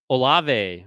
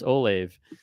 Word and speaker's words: Olave: in the second round we have Chris olave or how uh how uh Chris Patrick would pronounce it Chris Olive I didn't I didn't